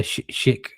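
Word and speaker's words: Schick: The shik is how you pronounce Patrick.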